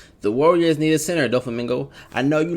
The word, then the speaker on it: Doflamingo: them all right now the Heavenly demon donot do Flamingo that's how you say his name already know